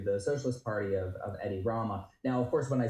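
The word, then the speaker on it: Edi Rama: The uh so the current leader is Eddie Rama.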